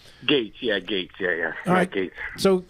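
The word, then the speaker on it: Gaetz: Lunge towards uh at Gates of Florida how you pronounce it okay Gates yeah Gates yeah yeah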